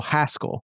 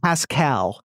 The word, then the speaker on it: Haskell: he's fine um yeah you pronounce haskell haskell not not not pascal not like pedro pascal um or yeah moving